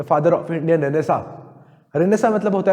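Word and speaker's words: Renaissance: ठीक है, प्रोनाउंसिएशन क्या है इसका? रेनेसा।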